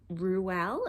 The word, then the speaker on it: Reuel: His full name, I didn't know this until doing this video, was John Ronald Reuel. Is that how you pronounce it?